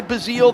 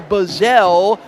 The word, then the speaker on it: Bazile: They pronounce them differently. Our guy Bazile, their guy Bazell, but they are, one's from Miami, our C.J.